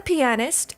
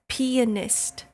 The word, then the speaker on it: pianist: a piano is a pianist. And I just don't like the sound of that. You have to put the emphasis on the P part of the word. It's not a pianist.